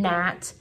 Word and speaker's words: gnat: So like the KN in gnat, nope, the GN in gnat, the KN in knit.